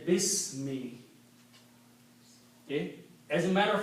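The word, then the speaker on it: بِسْمِ: Also, when we read together, we do not pronounce this alif. We say Bismi.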